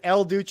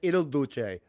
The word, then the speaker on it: Il Duce: I said El Duce. I should have said Il Duce. I should have pronounced it correctly.